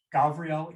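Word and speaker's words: גבריאל: the direction is west the element is water gavriel is also merciful gabrielle um as i said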